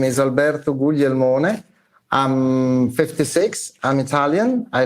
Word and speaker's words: Alberto: yes hi everyone uh by the way you pronounced it correctly my name is Alberto I'm 56 I'm Italian I live and work